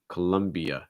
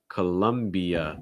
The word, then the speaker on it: Colombia: the uh sound and something else that you can do to make the sound more natural is link the e uh so it's not e uh it's colombia columbia it's like adding like a y sound like between the i and the a that's just going to